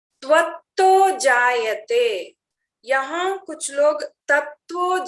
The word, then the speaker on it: त्वं: और त्वं ब्रह्मा, त्वं वहां बोलते समय भी दिक्कत होता है, त्वं ब्रह्मा त्वं, सब में त्वं त्वं आ रहा है, तो तम तम बोलने की यहाँ कुछ लोग करते हैं गलती से, उसको ना करें, सही उच्चारण करना बहुत अनिवार्य है।